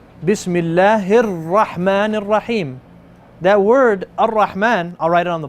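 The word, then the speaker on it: الرحمن: I'm not pronouncing it. I'm saying Ar-Rahman.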